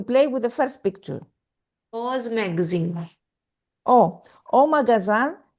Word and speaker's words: aux: Aux magazine. Oh, au magasin. Look here, we have X, but it's not pronounced. It's pronounced like the masculine.